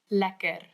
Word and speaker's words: lekker: Lekker.